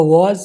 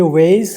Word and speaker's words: was: ये वेस है तो वेस तो कुछ नहीं है, वाज ये ज की साउंड है, सिंपल ज, तो हमें चाहिए यहाँ पे क्या, ये ज, तो ये भी नहीं है।